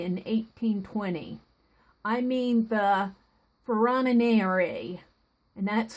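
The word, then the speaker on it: Ferronnière: I mean the Ferronniere, and that's spelled F-E-R-R-O-N-N-I-E-R-E.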